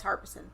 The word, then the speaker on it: Harbison: It's Harbison.